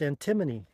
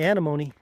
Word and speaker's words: Antimony: no it's uh the way it's spelled it's pronounced antimony kind of like isn't there a uh isn't